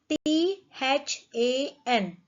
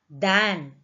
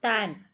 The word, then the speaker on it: than: T-H-A-N. We pronounce it as than, not tan, than. T-H-A-N, than.